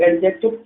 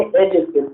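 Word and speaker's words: adjective: चलो मैं बता ही देता हूँ, इसको बहुत सारे लोग एडजेक्टिव पढ़ते हैं। ठीक है, जबकि ए और जे के बीच में अगर डी आ जाता है तो वो होता है साइलेंट। ठीक है, इसको एडजेक्टिव ना पढ़ के हम पढ़ेंगे एडजेक्टिव।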